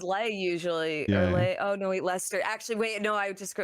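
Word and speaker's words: Leicester: it not see that it's leer leester Lester yeah that's just Lester but obviously most people go is Le usually oh no wa Lester actually wait no I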